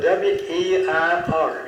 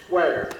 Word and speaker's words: Weir: Ware, he spelled it W-E-I-R. It looked like Weir, but they pronounced it Ware.